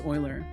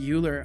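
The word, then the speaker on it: Euler: today years old when I realized Oiler is pronounced Oiler it I I had that concept introduced to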